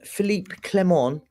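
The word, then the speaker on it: Philippe Clement: his tactics why why did I see Philip Philipe clemon that's how you say his name on The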